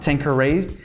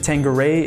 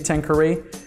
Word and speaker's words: Tanqueray: have the tanker a10 yes that's how it's pronounced Tanqueray I hear a lot of people pronouncing it tanga ray in fact some bartenders will actually correct you when you say tanker e but in fact according to the company that's